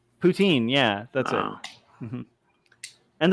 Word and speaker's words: poutine: thing with like mayonnaise poutine poutine yeah that's it and the first time somebody said the name poutine i thought they were being goofy and just making a strange pronunciation of putin are you talking about